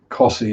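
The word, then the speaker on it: Costessey: Cossey is one they always get wrong.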